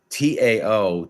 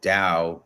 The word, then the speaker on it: Tao: case anyone doesn't understand Tao Dao it's pronounced with like almost like a D sound but it it's the